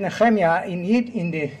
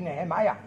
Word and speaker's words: Nehemiah: Actually, I said Nechemia, the right way to pronounce his name in English would be Nehemiah.